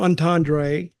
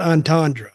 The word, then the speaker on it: entendre: I mean, that is how the French pronounce it.